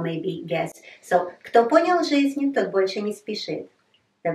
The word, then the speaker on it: жизнь: We write ж and и, but we don't pronounce жизнь.